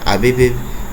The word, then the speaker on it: Abib: I'm pretty sure it's pronounced Abib because it's A-B-I-B. Yeah, Abib.